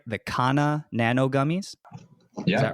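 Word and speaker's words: Kanha Nano: Am I pronouncing this right? The Kana Nano gummies? Yeah. Is that right? Absolutely. Kana Nano.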